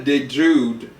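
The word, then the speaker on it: Olivia DeJonge: kid oh my gosh then you got Olivia De Jude that's playing and that's spelled D EJ o n g that's playing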